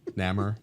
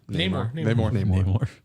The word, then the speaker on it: Namor: Is that how you pronounce it? Namor. Namor.